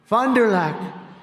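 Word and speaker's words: Fond du Lac: did earlier this year in Fond dulock Wisconsin Fondulac nice I love these names I wish I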